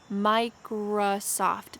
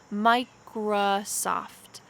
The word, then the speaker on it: Microsoft: mouth dell microsoft microsoft notice the middle vowel that's happening in this word micra microsoft this is a schwa sound it kind of sounds like a sound microsoft microsoft samsung samsung amazon